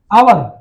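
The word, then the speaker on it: hour: अब यहाँ पे आवर, एच साइलेंट है, क्या साइलेंट है, आ, तो हम क्या बोल रहे हैं, शुरू में क्या बोल रहे हैं, आवर, है ना।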